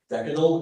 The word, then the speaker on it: decadal: Decad is the only pronunciation I have here.